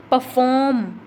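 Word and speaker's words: perform: परफॉर्म, परफॉर्म, जैसा कि हमने पहले कर लिया था परफॉर्म, इसके फॉर्म सेकंड जो सिलेबल है उस पर स्ट्रेस आ रहा है।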